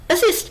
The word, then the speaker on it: assist: Assist is pronounced as assist stress on the second syllable. When pronouncing the word, break it into two parts. Uh like the uh in about cyst rhymes with rhymes with list or missed.